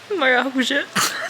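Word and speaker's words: maracujá: Maracuja. How do you say it? What is that? Maracuja.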